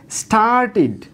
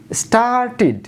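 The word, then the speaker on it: started: এরপরের শব্দ স্টার্ট, লাস্টে ট সাউন্ড আছে, তার সাথে ইডি যুক্ত হওয়ার ফলে কী হচ্ছে, স্টার্টিড, স্টার্টিড।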